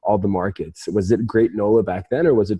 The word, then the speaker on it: Gr8nola: the number eight in great nola and there's a fun play on words right where gr8 can be pronounced as the word great um initially i wanted